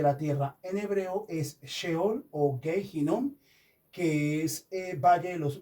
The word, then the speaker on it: sheol: En hebreo, en hebreo infierno, en hebreo infierno se dice cheol. En hebreo eh se dice sheol.